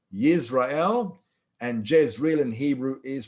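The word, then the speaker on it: ישראל: It doesn't come out in English all that well, because in Hebrew, the word Israel is pronounced Yisrael, and Jezreel in Hebrew is pronounced Yisrael.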